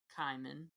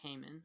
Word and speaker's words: Kaiman: But no, the first chapter is called Spell One Kaiman, and that's how they pronounce it, not Cayman, like I thought it would be.